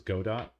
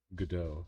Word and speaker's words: Godot: I thought it was Godot because it's kind of like robot, and their little mascot is a robot, but their official tutorial guy is he pronounces it Godot.